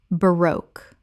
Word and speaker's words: baroque: baroque Correct pronunciation. baroque Two syllables with the stress on the second. It rhymes with spoke.